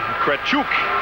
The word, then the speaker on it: Kretchuk: One of the defensemen, Kretchuk, is how you pronounce the Russian's name.